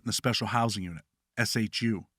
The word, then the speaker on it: SHU: a special housing unit Shu pronounced shoe for assaulting another prisoner